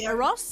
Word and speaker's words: Eros: the co-founder of a charity as well called e-r-o-s is it pronounced ross yes tell us about what you what you're